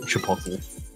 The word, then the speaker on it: Chipotle: all I know is it's pronounced Chipotle.